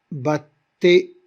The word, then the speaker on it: battaient: séparés, mais regardez ici, battait, on n'a pas prononcé le E, battait, non, battait. Alors T, c'est une seule syllabe, parce que le E,